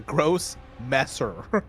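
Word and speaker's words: Grossmesser: The gross messer. That's how you pronounce it.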